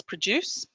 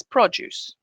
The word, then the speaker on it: produce: to produce the produce we've got our stress on the verb like this produce and the noun like this produce you record a record